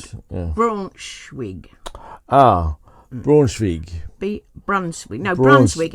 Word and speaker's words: Braunschweig: We do, but and it's how you spell it. Braunschweig. Braunschweig.